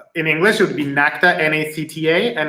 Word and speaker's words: NACTA: The name of the school is, in English, it would be NACTA, N-A-C-T-A, and it's the National Academy of Chinese Theater Arts.